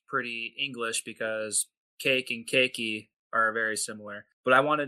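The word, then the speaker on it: ケーキ屋: And cake shop is cakeya. Kia is spelled K E K I Y A.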